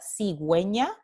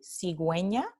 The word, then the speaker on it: cigüeña: Entonces, la palabra cigüeña, aquí, cigüeña, tiene la diéresis encima de la U. Esta diéresis está diciendo a los hablantes, hey, this has to be pronounced. Entonces, esta palabra se pronuncia cigüeña, cigüeña, y tenemos aquí la transcripción de la U.